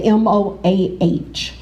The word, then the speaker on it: MOAH: and History, also called, do they pronounce it MOA? In Lancaster, the MOAH.